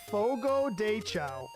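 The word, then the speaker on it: Fogo de Chão: yeah you got to say it like this Fogo cha Fogo dea it's a Brazilian steakhouse oh dude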